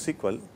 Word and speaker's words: SQL: People pronounce it as sequel, stands for structured query language.